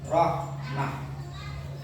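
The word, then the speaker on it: رحمة: Rohmatan dibaca amal buta saja. Bagaimana? Rohmatan menjadi rohmah, gitu ya.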